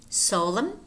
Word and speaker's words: solemn: And then we have a couple of words in which the letter N is silent, namely him, him, autumn, autumn, solemn, solemn, condemn, condemn, column, column, dam, dam. Notice how these words have M and N. You do pronounce the M, but not the N.